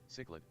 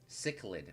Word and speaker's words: cichlid: are chilled let's look at it chch lid cichlid cichlid wow that literally is nowhere near how I pronounced it a cichlid a cichlid look at